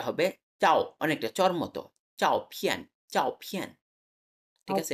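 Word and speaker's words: 照片: চাও ফিয়ান। ঠিক আছে, এটা ঝ হবে না, অনেকটা চ এর মতো। চাও ফিয়ান, ঠিক আছে, বলেন।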